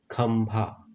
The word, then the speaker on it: खंभा: खंभा, यहाँ पर आधा म का उच्चारण कर रहा है।